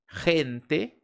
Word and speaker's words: gente: Entonces, por exemplo, a la palavra gente, gente tem esse som de dois rs.